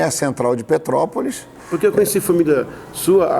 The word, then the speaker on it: Petrópolis: Tem que até corrigir isso, porque todo mundo fala Petrópolis. O petropolitano, ele come essa sílaba do meio, ele acaba falando Petrópolis. Ele junta. A gente aprende, né? Vai junto. O certo é Petrópolis. E a gente acaba falando Petrópolis.